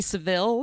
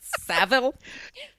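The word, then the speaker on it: Savile: it when we s we mispronounce things like Jimmy Seville how we say when it's savil hey if you like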